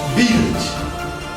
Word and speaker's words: built: look at this one is built not good it is built the ui is pronounced